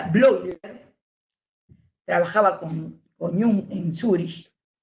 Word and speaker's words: Bleuler: blogger bleuler se inscribe bleuler se pronuncia blog trabajaba con òmnium en